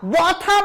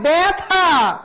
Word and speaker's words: ব্যথা: কেন ব্যা হয়েছে? কারণ জফলার পরে যে ব্যঞ্জনটা রয়েছে সে ব্যঞ্জনের পরে যদি অ অথবা আ থাকে তাহলে এ উচ্চারিত হয়। সেই নিয়ম অনুযায়ী ব্যথা, ব্যথা বলা যায় না, ব্যথা।